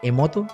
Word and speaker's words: Emoto: hay un experimento que hizo eh masaru eh emoto No sé si lo estoy diciendo bien emoto así se pronuncia Me estoy poniendo cre la sección